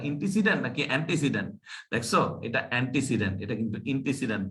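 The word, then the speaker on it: antecedent: দেখছো এটা অ্যান্টিসিডেন্ট, এটা কিন্তু ইন্টিসিডেন্ট না। অনেকেই আমরা ইন্টিসিডেন্ট উচ্চারণ করি, কিন্তু অ্যাকচুয়ালি এটা কি, অ্যান্টিসিডেন্ট।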